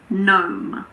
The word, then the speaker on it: gnome: Well, we don't pronounce the G if it's followed by an N at the beginning of a word. But there aren't that many words like this. Some examples are gnat, gnaw, gnome.